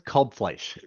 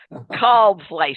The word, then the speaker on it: Kalbfleisch: And pronounce your last name for us, please, Kalbfleisch. Kalbfleisch.